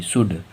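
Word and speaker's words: should: L silent होता है अब जैसे दी का उदाहरण देखिए तो दी का उदाहरण है एस ह ओ यू एल दी सूद सूद में देखो जो एल है वो दी के पहले ए रहा है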